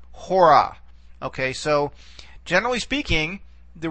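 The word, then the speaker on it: ὥρα: You see here that it's accentuated, forget the breathing mark for a second, it's accentuated on the first syllable, the omega, hora.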